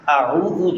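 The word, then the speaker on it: أعوذ: اس میں اعوذ جو ہے وہ اس طرح پڑھنا ہے کہ حمزہ الگ ہو، عین الگ ہو اور تلفظ سے ادا کریں.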